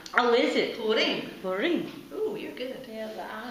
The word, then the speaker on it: Purim: It's Purim. Oh, is it? Purim.